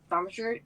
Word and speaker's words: Thaumaturgy: No, I don't know how to pronounce that one. Thaumaturgy?